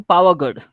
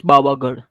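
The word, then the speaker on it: Pavagadh: So we were taking them to Pavagad, and they don't know how to pronounce Pavagad. So they were asking the people that where is Babagad, and people don't know what is Babagad.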